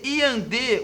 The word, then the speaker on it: iandê: E no item E, iandê, o acento justifica pelo fato de a sílaba tônica cair na penúltima sílaba? Não, gente, cai na última sílaba.